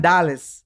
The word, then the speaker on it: Andales: How might sound like the emphasis might be on another syllable. Andales.